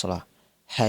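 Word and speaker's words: الصلاة: জিনিস লক্ষ্য রাখতে হবে হাইয়ালা সালাহের ক্ষেত্রে শেষে বড় হা উচ্চারণ হবে আর হাইয়া আলাল ফালাহরের ক্ষেত্রে শেষে ছোট হা উচ্চারণ হবে যেমন ফালাহ সালাহের ক্ষেত্রে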